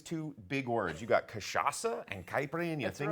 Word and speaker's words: cachaça: Or how do I even, it looks like chachaca, but it's cachaça. That's how it's pronounced.